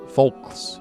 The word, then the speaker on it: Foulkes: It's called Lynn Fowlkes. Folks. It's spelled Lynfoulkes. One-man band.